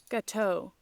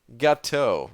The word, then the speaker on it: gâteau: Gâteau. Gâteau.